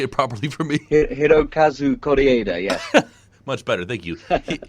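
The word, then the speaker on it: Hirokazu Kore-eda: a hope sorry I will screw it up Heroku kuzu corrida can you say it properly for me Hiro Kazuko da da yeah much better thank you he's doing great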